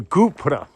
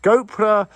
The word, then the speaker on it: gopura: So what we're looking at is the gateway, or the Gupura, which is also pronounced Gopura or Gopura.